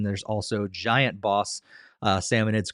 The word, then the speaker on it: Salmonids: these aggressive creatures called Salmonid Salmon Salmonids, I think is how you pronounce them.